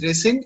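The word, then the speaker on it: rescind: yes sir it's called resend okay okay it's pronounced as resend and it means cancel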